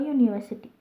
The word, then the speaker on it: university: an uncle but a university the u at the beginning of university sounds like y o u u that is why